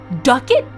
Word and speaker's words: ducat: Ducat, like a bucket. Guess we say fuck it. Okay. "Oh my word," said the host. "Ducats are quickly coined there.